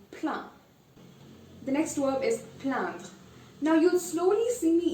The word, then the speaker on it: plaindre: Now you see it's A-I-N. But since it's I-N, I'm still going to pronounce it as un. So it's plaindre.